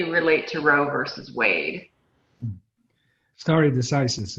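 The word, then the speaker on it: stare decisis: to roe versus wade starry decisis is the uh the way thank you a lot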